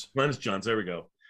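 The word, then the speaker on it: Glynis Johns: Glennis Johns.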